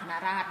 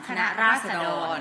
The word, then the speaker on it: คณะราษฎร: มา อ่าน ว่า อะไร ตอน แรก เรา ก็ อ่าน คณะ ราฎ นะ ปรากฏ ว่า ถาม ราชบัณฑิต เลย อยาก รู้ อ่าน คณะ ราษฎร เป็น สิ่ง ที่ ถูก ต้อง โอเค ได้ ค่ะ ก็